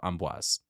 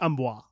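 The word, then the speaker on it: Amboise: for the French people if I didn't pronounce it right go yourself it might be amoa no I it has an S I looked it up I know but a lot of times the s in in French is silent so like um yeah I said but then I looked up a video and and they said it's Amis I will default to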